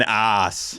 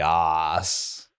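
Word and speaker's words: Aase: Donny ass. It's Donnie Os.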